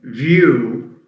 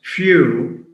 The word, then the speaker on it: view: And of course, I mean, mispronouncing view as few results in a total change of forms.